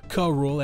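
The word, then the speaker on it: K. Rool: protect the coconut from kruu or krule as the show pronounces it or anyone else a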